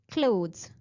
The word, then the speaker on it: clothes: So the correct pronunciation is clothes.